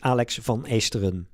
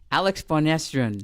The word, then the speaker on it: Alex van Esteren: I will explain it. I will pronounce it in Dutch. It's Alex van Esteren. Alex van Esteren.